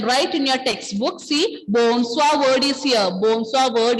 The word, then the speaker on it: bonsoir: Bonsoir. Très bien, très bien. Bonsoir. Bonsoir. Pronunciation is bonsoir. How will you pronounce this? Bonsoir. Bonsoir. Oui. Bonsoir. Ending letter R will be silent.